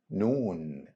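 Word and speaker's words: نون: easy one because it's compared with letter n in English same sound of letter N in the word nice repeat after me noon noon noon n now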